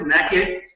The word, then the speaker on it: nacre: That's how you pronounce it, nacre, which first gets deposited on the parasite, first to kill, and then to soothe the irritation.